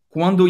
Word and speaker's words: quand: Quando em francês, quand, A-N, tem esse som bem nasal, quand. O D não se pronuncia.